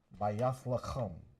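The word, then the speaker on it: בית לחם: Bayath lacham. That's how you say it in ancient Hebrew.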